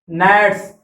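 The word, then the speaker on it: gnats: नेट्स, फतिंगा, जी silent है इसमें याद रखना।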